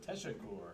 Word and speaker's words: teşekkür: We got that little squiggle under the S, makes it an SH sound, and the U, the double dots on the U, give it like a ooh. So teşekkür.